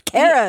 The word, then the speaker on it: Cara: I'm like, "That's not my name. It's Cara. It's not Cara."